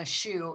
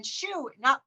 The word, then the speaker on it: Schuh: And then Schuh, it's pronounced like the one on your foot, but it's SCHUH.